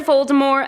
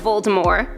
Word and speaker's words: Voldemort: The true pronunciation drops the T at the end of the name in true French fashion for the pronunciation of Voldemort.